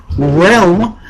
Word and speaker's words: REALM: Minus 5 points to Gunner for it's pronounced Realm, the acronym, Realm, not spelled out R-E-L-M, you say Realm.